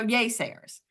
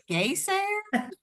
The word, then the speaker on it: Yaysayers: so all right so yay Sayers and we gotta it's pronounced yay y a y Sayers so many people about this and they're like gayers way Sayers like what are you